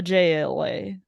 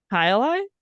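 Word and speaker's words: Jai Alai: it's called hii and if you have never heard of it hiai is spelled j AI a l a i and I went up to the bar and I said to the bartender I would like to drink a JLA a JLA and he go goes hi Eli and I go yes that's what I said and he goes That's how you say it and I go thank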